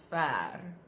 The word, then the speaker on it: ver: This one sounds like it should have a copy. It doesn't have a copy. Ver.